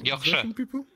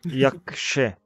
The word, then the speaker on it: Яхшы: Яхшы. Яхшы. Yeah. Яхшы.